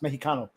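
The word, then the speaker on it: México: In uh in Spanish, the X makes an H sound. So, it's spelled Mexico, but it's pronounced Mexico.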